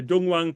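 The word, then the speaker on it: Dunhuang: is in the famous Tong tonko if you pronounce it Japanese the dongwang those wonderful U caves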